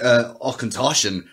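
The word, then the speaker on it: Auchentoshan: And this dude just goes, pal, it's, you want to pronounce it, Ockentoshan.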